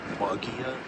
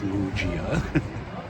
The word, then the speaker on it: Muggia: I did have to ask directions how to get to it, and I said Mia, and they told me it's pronounced Mujia.